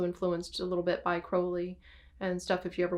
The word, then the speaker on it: Crowley: everybody his name um his name is pronounced crowley like the bird and his his name